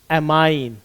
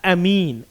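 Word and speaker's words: amine: functional group is एमाइंड एमाइल या एमीन आप जो आप प्रोनाउंस करना चाहे प्रोनंसिएशन जो आप यूज करना चाहे एमाइल या एमीन बोथ आर करेक्ट चलिए ये आप इसको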